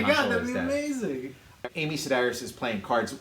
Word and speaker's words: Sedaris: in the cantina and amy cedars that's amy sedaris right yes and i guess like